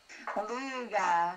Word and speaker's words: Luga: Is it Luga? Luga. Luga. Like a loogie.